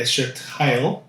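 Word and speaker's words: אשת חיל: 에쉐트 하일이라고 발음하는데 에쉐트 하일 에셔트 하일 하일 네.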